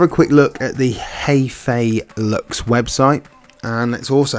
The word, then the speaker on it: Hefe: boss and it doesn't so I've been saying hey Fay just to give you an idea of how it's pronounced considering the way that